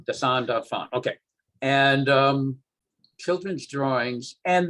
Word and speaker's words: dessin d'enfant: How do you say it in French? Dessin d'enfant. Dessin d'enfant.